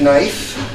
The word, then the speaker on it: knife: Wipe off the knife. Why do they even put a K in front of there?